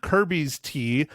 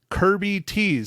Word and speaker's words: Kirby Tees: to kirby tees now I said it wrong last week because I didn't want to type in but it's not Kirby's T it is Kirby tees so it's ki are be Y the letter T